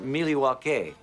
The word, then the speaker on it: Milwaukee: Charlotte North Carolina open the bar mov to Milwaukee open the bar actually it's pronounced milwa which is El gonin for the good land